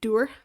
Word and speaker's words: dŵr: It's like saying do, but with the R at the end, so doer.